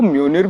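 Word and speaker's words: Mjölnir: तो उस टाइम पे अब लिखा तो MJOLNIR है, ठीक है. अब हमारी प्रोनाउंसिएशन उतनी अच्छी नहीं थी उस टाइम पे, तो MJ ये लिखा है, और फिर जब मूवी देख रहे तो वो म्योनिर म्योनिर कर रहा, तो वो एक कंफ्यूजन आ गया.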